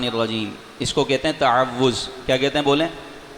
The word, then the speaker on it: تعوذ: اعوذ باللہ من الشیطان الرجیم، اس کو کہتے ہیں تعوذ۔ کیا کہتے ہیں بولیں؟ بعض اس کا تلفظ یوں کرتے ہیں تعوذ، تعوذ نہیں تعوذ، اعوذ باللہ من الشیطان الرجیم۔ اس کا مطلب پتہ ہے؟